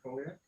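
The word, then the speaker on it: Colac: So I did a lot of them in Colliac. Is that how you say it? Colliac?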